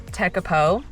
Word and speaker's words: Tekapo: So now I know that it's tecapo.